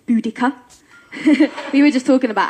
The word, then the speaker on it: Boudicca: Bo u D ICCA it's not barred this year it's not do dis year it's booty cuts we were just talking